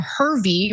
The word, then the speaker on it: Hervey: Her name is Lady Victoria Hervey, rhymes with scurvy.